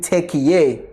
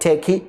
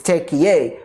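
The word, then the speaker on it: Türkiye: And also, Nabbi will be joining the Chiefs in Turkey. Yes, that's how you say it. It's not Turkey, it's Turkey for the preseason.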